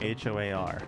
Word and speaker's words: Hoar: there's a character named hoar and that's that they pronounce it like w-h-o-a-r a w-h-o-r-e and it was he